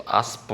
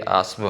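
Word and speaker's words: اسب: आस्ब बाज़ औक़ात हमने देखा है कि हमारे हिंदू पाक में इसको आस्प बोलते हैं, पे ऐड करते हैं, नहीं बल्कि ये आस्ब है।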